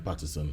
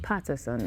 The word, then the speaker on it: Peterson: Did I pronounce that wrong? It's Peterson. Peterson.